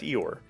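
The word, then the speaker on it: Eyoir: Yeah, it's Eeyore.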